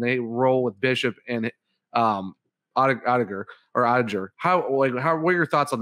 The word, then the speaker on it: Oettinger: Is that how you pronounce his last name? Oettinger.